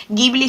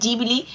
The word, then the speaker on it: Ghibli: parte de una de un error de pronunciación realmente por parte del estudio el ghibli sería en italiano que es de dónde procede el nombre original y jubilee la traslación en japón en japonés así que al final